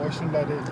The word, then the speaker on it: Osunlade: Is it Osunlade or Osunlade? How do you pronounce it?